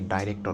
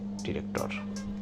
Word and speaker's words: director: অনেকে এটাকে ডাইরেক্টর উচ্চারণ করে। তবে সঠিক উচ্চারণটা হচ্ছে ডিরেক্টর।